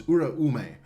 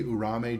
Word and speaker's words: Uraume: It's Uraume. I always say Urame just to make it short, but it's Uraume.